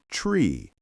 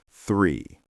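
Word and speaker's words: three: Many people say tree instead of 3. The mistake happens because they skip the th sound. You need to put your tongue lightly between your teeth and blow air out.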